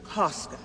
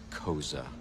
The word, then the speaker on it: Koska: You must be Mr. Koska. It's pronounced Koza.